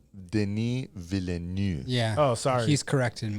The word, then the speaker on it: Denis Villeneuve: So no, It's pronounced Denis Villeneuve.